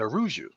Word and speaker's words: Araújo: hey what's up Brian and Andre Lima at aruu excellent pronunciation of my last name who taught you